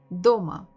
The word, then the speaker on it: дома: So we have two syllables, do and ma. Which one has been stressed? Дома. Дома. So if you feel a bit difficult with stresses, you can just look at me, look what I do, how I say, and look at my fist. Дома. Дома. Дома. So I would always stress a little bit faster and stronger with my fist the stressed syllable.